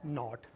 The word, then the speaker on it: knot: This is, यहाँ पे के साइलेंट है, इट्स कॉल्ड नॉट।